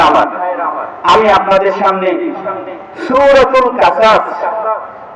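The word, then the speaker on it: قصص: আমি আপনাদের সামনে সূরাতুল কাসাস আরবিতে শব্দটা উচ্চারণ হবে কস তে যার শাব্দিক অর্থ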